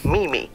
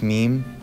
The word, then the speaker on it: meme: invests in a dog mimi mom it's pronounced meme and doge and it's legit i'll